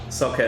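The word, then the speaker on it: Soukaev: Salkev. Hammerdinger. Salkav? Yes. S-O-U. Oh, God, Robbie, nothing is spelled the way things are spelled.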